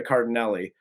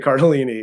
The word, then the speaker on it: Cardellini: yeah Linda cardini is and I mispronounced her name when I said it first but Linda Cardellini is probably one of